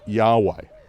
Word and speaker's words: Yahweh: just four letters, YHW, which we've come to pronounce as Yahweh.